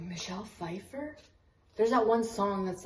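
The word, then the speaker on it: Pfeiffer: feifer micher why does that sound wrong Michelle Fifer there's that one song that's like closest thing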